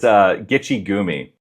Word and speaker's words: Gitche Gumee: it's Gitche Gumee.